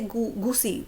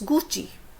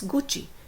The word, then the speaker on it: Gucci: Most of the people, they say Gucci. It's Gucci. It's not Gucci, it's Gucci. So I will enlist all